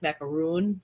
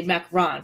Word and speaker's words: macaron: a French macaroon and I I pronounce macaron like macaroon like like most people do from where I'm from um and she scolded me and she said you should say macron because that's how you're supposed to say it but